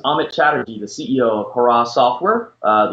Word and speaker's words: Hara: This is Amit Chattery, the CEO of Haras Software. Uh the easiest way to remember how to pronounce our company is hip hip hooray.